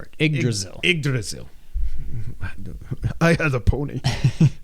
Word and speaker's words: Yggdrasil: Yggdrasil. Yggdrasil. Like Brazil, but Drazil. And you just say Yggdrasil. You just say Ig before it. Yggdrasil.